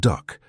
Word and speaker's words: DUKW: This was the DUKW, pronounced duck, and to the weary eyes of the German engineers who salvaged it, it looked like a crude joke.